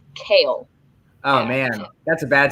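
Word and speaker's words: Chaol: tedious his name is kale like the leafy vegetable so it's yellowed it's spelled c-h-a-o-l but it's pronounced kale oh man that's a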